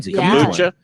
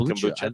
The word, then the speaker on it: kombucha: Kombucha. You like kombucha. I'm in love with kombucha. Can you say kombucha or how do you say it? I say kombucha. You say kombucha. Kombucha. Like it's calm. Yeah.